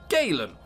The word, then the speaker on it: Galen: all right Galan did we've never called him Galan before have we it's always been Galen or gin oh God it keeps changing Galen cuz it rhymes with gabin let's imagine kala really